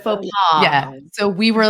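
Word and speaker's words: faux pas: we used to always say fox paaw so instead of fa paw yeah so we were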